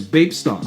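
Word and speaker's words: Bapesta: obviously for the iconic vape star also note in japanese the pronunciation of star is staff so technically the pronunciation is vapesta hence the star on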